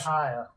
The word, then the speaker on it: Pekahiah: Pekahiah. Pekahiah. If you spell it right, it's Pekahiah.